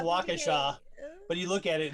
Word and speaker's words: Waukesha: there's that big town by milwaukee that's called waukesha it's actually what it's actually waukesha it's it's pronounced waukesha but you look at it and it's like